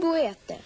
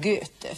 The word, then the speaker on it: Goethe: Men det står goete. Ja, oe uttalas som ö. Så att det heter inte goete utan göte. Fortsätt.